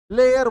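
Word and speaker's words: lair: तो जो अपराधियों का अड्डा होता है जहां वो रहते हैं या छिपते हैं उस जगह को लेयर बोलते हैं।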